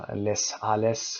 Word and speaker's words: Les Halles: تلفظ اینجا Les Halles، Les Halles هست و قرن 19 پاریس بوده.